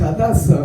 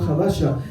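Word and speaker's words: הדסה: Gracias por el cumplido, pero es Hadasa, ¿no? El nombre que le reveló Dios, no Hadasha.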